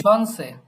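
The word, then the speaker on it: Chance: এটা উচ্চারণটা হবে ডাইন, শনসে, শনসে।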